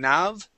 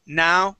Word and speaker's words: now: Here, it sounded like you pronounced a V at the end saying nav, okay? The word is now, ooh, with the ending with an ooh sound, now.